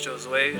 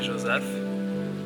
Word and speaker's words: Josue: so my name is j Joseph I'm from Haiti so my name is um French that's how you pronounce it J Joseph but I've have um